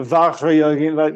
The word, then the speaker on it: Vajrayogini: Because it's Sanskrit, and you, for a start, the J in Sanskrit is pronounced J. It's not French. It's Sanskrit. Vajrayogini, like that.